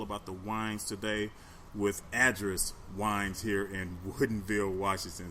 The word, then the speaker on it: Adris: The winery was a little off. It was address, like just like an address.